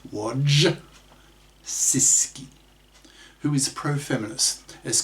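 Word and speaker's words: Wojcicki: CEO of YouTube is Susan wodisi that's WJ c i c k i pronounced W sisi who is pro feminist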